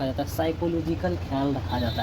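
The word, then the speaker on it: psychological: ख्याल रखा जाता है उसको कहते है पी साइलेंट है साइकोलॉजिकल यानी सिखाने वाला का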